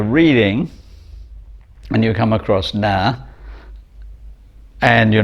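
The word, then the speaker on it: ណាស់: example very, which is na in Khmer, if you read the letters it's actually N-A-S-A, but the final S-A is not pronounced. So when you're reading and you come across na, and you're not very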